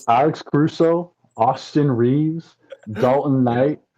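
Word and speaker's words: Knecht: you pronounce his name I think it's Knight Knight spelled weird but you pronounce it Knight dalon Knight really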